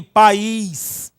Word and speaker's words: país: O mesmo ocorre com pais e país. Olha só, uma vogal, uma sílaba. Aqui, 2 vogais. Por quê? Porque o I está sendo fortemente pronunciado, portanto, elemento vocálico fortemente pronunciado é vogal.